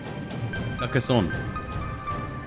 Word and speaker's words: Carcassonne: In French, the ending letter is silent. Carcassonne.